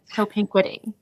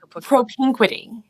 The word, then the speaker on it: propinquity: the SAT word of the day which is propquity. Wait and propinquity.